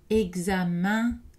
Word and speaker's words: examen: Et EN dans certains mots comme examen, agenda.